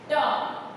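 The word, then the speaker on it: talk: टॉक, वैसे आम देखा जाए तो TOK, हमें जो स्पेल देखा जाता है तो TOK लगता है, लेकिन एल जो है वो साइलेंट हो जाता है, राइट?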